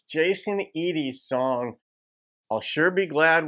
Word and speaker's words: Jason Eady: is good stuff and it is pronounced as I understand you guys have educated me that has pronounced Jason Edie not Eddie or any other pronunciation also just as a